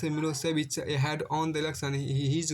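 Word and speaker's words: Milošević: A narrow-minded Serb nationalist Milosevic pronounced Milosevic had won the election.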